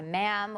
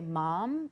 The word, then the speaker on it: ma'am: Sir and her by ma'am which rhymes with spam like they write that